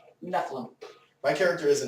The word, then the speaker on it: Nephilim: there but still files is it neum or Nephilim how's that pronounced nephlim my character is a Nephilim but that doesn't get